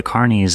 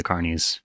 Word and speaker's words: Carnis: Vita Carnis, or Vita Carnis. I think it's Carnis. I think that's how they pronounce it multiple times in the series itself, so that's just what I'm going to say from now on.